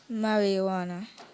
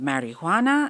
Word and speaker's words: marijuana: Marijuana. Is there any alternate pronunciations? You have marijuana and you have marijuana.